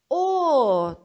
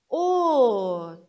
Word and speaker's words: 옷: As demais letras, quando estão sozinhas, como patim, têm som de T mudo. O som é simples e curto, como se nem tivesse sido pronunciado. Como nesses exemplos. 옷. 옷.